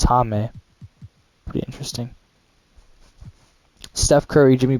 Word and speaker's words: Jaime: His name is actually pronounced Jaime Jaquez Jr., and that's an interesting way to pronounce his name. I thought it was Jamie Jaquez Jr., but it's Jaime.